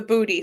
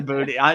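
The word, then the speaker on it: buddhi: They call it booty, right? I mean, it's not spelled like booty like B O T Y. It's spelled like B H U D H I. Right. Hi. You know, so yeah, but it sounds the same way.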